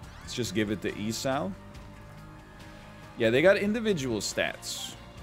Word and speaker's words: Esau: not co-op this is the new character it's pronounced esau yeah uh esau jacob and esau got him